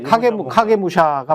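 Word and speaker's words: 影武者: 각해무시라는 게 이제 결국은 정확한 일본어 발음으로 이제 네. 카게무시아. 카게무시합니다. 카게무시. 카게가 그림자기 때문에. 예, 카게 맞아요. 저게 카게무샤가 맞아요. 예. 카게무샤. 예. 근데 이제 한글로 말할 때는 앞에 카가 이제 가로 네, 발음될 수 있기 맞습니다. 때문에 그냥 가게무샤라고 해도 됩니다.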